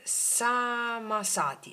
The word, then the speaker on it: samasati: Eh, si chiama, aspetta, eh, samasati.